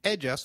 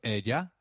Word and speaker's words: ella: Did you notice the pronunciation of ella? In Spanish, double L takes up the sound of Y in some areas and a soft J in others, so you'll hear both ella and ella.